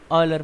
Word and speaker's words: Euler: तो I generally pronounce it एज ऑयलर function.